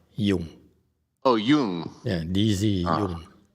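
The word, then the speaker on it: Dzung: It pronounces like a Y, Jung.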